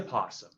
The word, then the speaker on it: opossum: And another really strange creature that will eat the cicadas when they're around is the Virginia possum. The O is silent, and the Virginia possums have really a secret superpower.